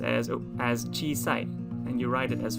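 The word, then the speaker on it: 小さい: an adjective and e adjective again and it's pronounced as as chi sai and you write it as follows the character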